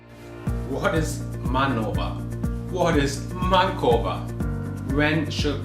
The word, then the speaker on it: MANOVA: also open for debate i say manova and mankova but i also heard people say man over but if i hear